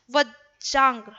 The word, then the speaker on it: वज्रांग: वज्रांग बोलाएंगे बच्चा, उच्चारण उच्चारण शुद्ध उसका क्या है, वज्रांग ऐसे लिखाएगा। देखिए वज्रांग, ज के अंदर नीचे र लगा है, फिर ग, तो वज्रांग